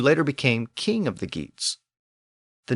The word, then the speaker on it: Geats: pronounce the name as GS but remember g a r was pronounced y the original version of our word year so that initial G probably had a y sound in Old English in the original text